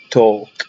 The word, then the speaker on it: talk: او، زي كلمة bowl، talk ال هنا silent، walk ال هنا silent، small، whole.